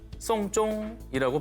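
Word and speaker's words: 送钟: 그렇습니다.이 중국어로 시계를 선물하다는 송쫑이라고 발음을 합니다. 음.이 발음이 장례를 치르다라는 뜻에 송쫑이 똑같습니다.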